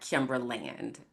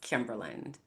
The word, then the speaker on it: Kimberland: My name is not Kimberland. My name is Kimberland like England or Maryland.